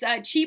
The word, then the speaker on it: Qi: So it's Chi Performance, but it's spelled QI. So usually people know how to pronounce it, but it's Chi Performance is my Facebook page.